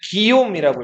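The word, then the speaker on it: Guillaume: 자, 그리고이 노르망디 공국에 1대 그 공작이 롤로고 2대 3대를 거쳐 가지고 4대 공작이 윌리엄이라는 사람이었어요.이 윌리엄은 프랑스로은 뭐라고 읽냐면 기움이라고 읽어요. 뭐라고 읽는다고요?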